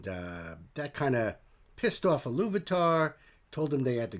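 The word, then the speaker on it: Ilúvatar: Now, Iluvatar, I think it's pronounced Iluvatar, when he created Middle-earth, his plan was for his children eventually, and they would be the elves, the firstborn.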